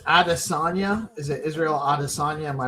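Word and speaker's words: Israel Adesanya: Is it Israel Adisagna? Am I pronouncing that right? Israel Adisagna.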